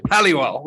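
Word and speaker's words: Halliwell: l's in the middle you can go yeah hollywell just like how do you how do you say it properly oh mate um you nailed it yeah look at at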